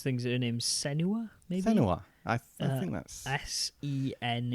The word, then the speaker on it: Senua: Her name is it's hard to pronounce her name. It's Senwa, okay.